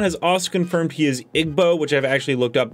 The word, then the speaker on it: Igbo: how to respawn has also confirmed he is igbo which i've actually looked up that is the correct pronunciation and that's an ethnic group largely concentrated